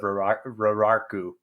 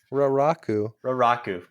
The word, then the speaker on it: Raraku: i just emerged from the deserts of roraku rawaku dang it raraku how do you say it raraku okay i'm gonna get that from now on i'm not even gonna